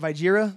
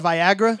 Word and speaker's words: Viagra: how to pronounce it she kept calling it viira the whole time about halfway through I couldn't take it anymore and I'm just like hey just to let you know that's actually pronounced Viagra she got way defensive